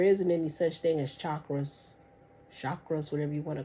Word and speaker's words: chakra: But the whole point is say it right, chakra. Shock. Raw. Raw.